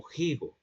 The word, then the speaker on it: higo: Pero ya no se pronunciaba la f del latín, la f o el fricativo labiodental sordo propio del etimo, ¿no? Sino que se pronuncia un elemento glotal ya en la Edad Media. Entonces, por por ende la gente decía algo así como jigo, como una J al comienzo.